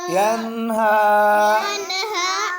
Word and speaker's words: ينهى: ज़बर हा ين हा यन्हा इसमें बच्चों ये या साइलेंट है, ठीक है। यन्हा अराअयत अल्लज़ी यन्हा इसमें ये भी या साइलेंट या ये चार आयतें हैं, इनके एंड में या साइलेंट है, ठीक है बच्चों।